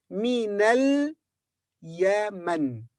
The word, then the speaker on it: من اليمن: This alif in the beginning of this word is not pronounced. So we say minal Yaman.